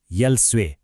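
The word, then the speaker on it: 열쇠: एकचोटी अभ्यास गरौ है उसान यो हेर्नुहोस् त यलस्वे यसको उच्चारण हुन्छ यल्सवे मतलब चाबी ल फेरी भन्नुस्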